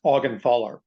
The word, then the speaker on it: Augenthaler: pronounce your last name my last name is pronounced augenthaler I got it right I said ogenthaler okay cool ogenthaler